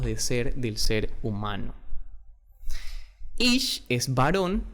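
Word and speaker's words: איש: Pero mujer se llama o se dice en hebreo Isha.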